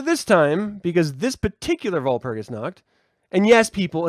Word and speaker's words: Walpurgisnacht: W's are pronounced with V's because they're German and not English. So letters sound differently, slightly. Sometimes dramatically different. So let's stop saying Walpurgisnacht because it's not W, it's V.